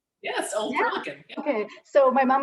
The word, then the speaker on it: Old Perlican: Did I pronounce that right? Yes, Old Perlican.